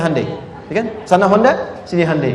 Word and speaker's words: Hyundai: sana bikin Honda sini hundai Hyundai kan dibacanya hundai kan sana Honda sini